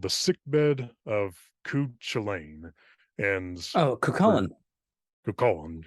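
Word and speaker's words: Cú Chulainn: And I was like, hmm, "Do you say that Cuchulainn? That's how it looks." And then I was reading about it, and somebody gave a pronunciation for us. Yeah, it's Cuchulainn.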